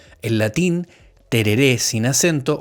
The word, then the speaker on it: tereré: jesuítica adaptada al guaraní lo que explica el acento en la última sílaba en latín tereré sin acento o terere